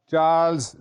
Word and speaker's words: Charles: उर्दू में ये लिखा जाता है चे अलिफ रे लाम और सीन, और आप प्रोनाउंस भी बाज़ औक़ात इसी तरह करते हैं चार्लस. ये चार्लस नहीं है, चार्ल्स.